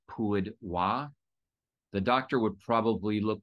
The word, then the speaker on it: Hua: And the reason that it gets mixed up is because hua, HUA, in Mandarin is pronounced wa.